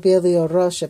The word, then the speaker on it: Belarus: So this is one country of called Belarusia, right. or however you say it, Belarusia or something. Belarus. And Belarus, I guess.